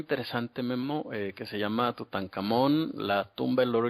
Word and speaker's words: Tutankamón: En egipcio esto se dice Tut-Ankh-Amón, o sea que si lo pronunciamos de corrido diría Tutankamón, ¿no?